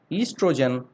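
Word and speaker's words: oestrogen: o g n okay it is pronounced as estrogen but we started with oh okay estrogen it controls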